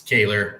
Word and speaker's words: Kohler: It's, Cody, it's Kaler. Everybody pronounces it Kohler, but it's spelled Kohler.